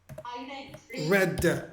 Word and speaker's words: read: Red. Exactly. So it's spelled like the color red. I read. In the past, it becomes red. Like the color red.